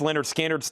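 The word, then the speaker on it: Lynyrd Skynyrd: Rush fly by nights 36, pronounced Leonard Skard's 36, Elton John 44, Rush Permanent Waves 36, and a special request for Troy Robinson.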